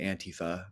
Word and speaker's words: Antifa: And and over there they pronounce it Antifa, but like Yep. in the American twang and our accent, it's become Antifa, which is how I say We it for love sure. to stress a penultimate syllable.